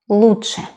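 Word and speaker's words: лучше: is Lucia Lucia mine the pronunciation is different from the spelling root chef lucha lucha for the word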